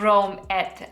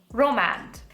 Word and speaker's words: Romance: palette with definitely also i think i kept mispronouncing this i think it's just romance not rome et and were romy and as i was pronouncing it because i'm an uncouth peasant so romance this is the urban decay naked